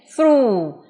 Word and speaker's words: through: Âm cuối của nó không có, đúng rồi, chỉ phát âm là u là hết. Through.